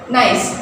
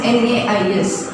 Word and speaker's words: gneiss: Then nice. This is actually GNEIS, but the pronunciation is NAIS.